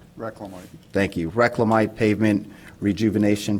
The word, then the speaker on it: Reclamite: Item A4 is approval of a 1-year contract with Corrective Asphalt Materials for the Reclamite, did I pronounce that right? Reclamite.